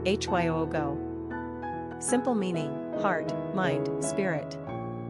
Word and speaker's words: Hugo: Pronunciation, Hyogo.